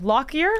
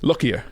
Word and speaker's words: Lockyer: Lockyer? Lockyer, yeah.